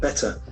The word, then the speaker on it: better: in us better better But in UK better better that t has got very more prominence but in US T has got a passive pronunciation better better better better